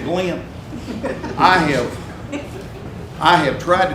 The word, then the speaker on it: Glenn: he said glenn because back home my name's two syllables go in i didn't know it was a one syllable word until i got to california at age 18. but he said glenn i have i have